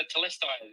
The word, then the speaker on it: Telestai: Yeah, so Telestai is how we say it.